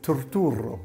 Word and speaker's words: Turturro: Yeah, they say Turturro. That's the proper way to say. Because you got 3 R's in it.